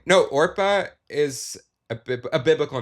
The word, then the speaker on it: Oprah: No, Orpah is a biblical name. Yes. And people just couldn't say it right, and so they kept just saying Oprah, so then she just became Oprah.